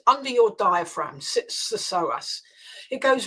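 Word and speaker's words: psoas: know it it it's the soas muscle let me spell that for your listeners PS O A the so muscle sits deep in the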